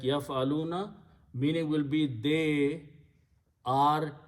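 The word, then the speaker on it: يفعلون: So first thing what we do, we just simply put the noon there, and it is pronounced yaf'aluna. Yaf'aluna means they do, or they are doing, or they will do.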